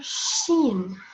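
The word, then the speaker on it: ش: I wanted to know where is sheen. How can I pronounce letter sheen?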